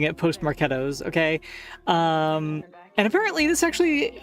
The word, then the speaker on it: postmarketOS: I'm still pronouncing it Postmarketos, okay?